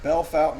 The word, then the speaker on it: Bellefontaine: that means beautiful spring Bell Fountain is just an English way of saying it here I got this